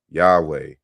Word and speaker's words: Yahweh: that correctly who says the similarity of yahweh with javas jupiter which is insufficient enough in itself disappears entirely when the name is pronounced rightly yahweh and so you know